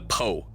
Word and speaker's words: Po: one pretty self-explanatory I figure uh and the poe is how you say it each night you